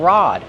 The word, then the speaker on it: rod: You can also call this a fishing rod, so it has two names, a fishing pole or a fishing rod. Kevin, how do we pronounce rod? Rod. Use the open ah sound like hot and stop.